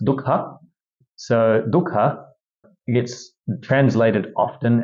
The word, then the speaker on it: Dukkha: truths, starting off with number one, which is pronounced Dukkha.